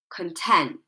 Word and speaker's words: content: Content.